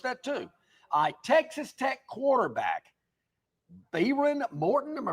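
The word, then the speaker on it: Behren Morton: Texas Tech quarterback Baron Morton. Am I pronouncing his name right? Baron Morton. That H kind of threw me off. There's an H in the middle of his name.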